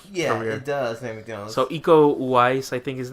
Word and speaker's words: Iko Uwais: So Iko Uwais, I think his name is pronounced.